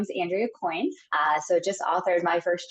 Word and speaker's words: Coyne: I'm delighted to welcome our children's book author, Andrea Coyne. Am I pronouncing that right, Andrea?